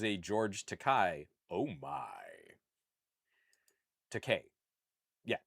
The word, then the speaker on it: Takei: Takei. Yeah, George Takei, not Takai. Yes, rhymes with okay, not Takai.